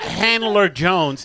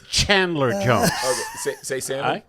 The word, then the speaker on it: Chandler Jones: your name it's gonna get pronounced all right it's not Handler Jones it's Chandler Jones who say salmon salmon I said it all